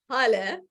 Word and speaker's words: Holly: are my name is Holly pronounced like Hallelujah since I was H7